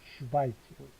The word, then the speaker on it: Schweiz: 이 발음이죠? Schweiz.